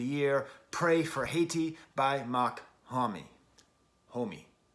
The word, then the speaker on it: Mach-Hommy: pray for haiti by mock homie homie mac hammy i've seen him pronounced a lot of different ways he pronounces it makami i will pronounce it makami now before i even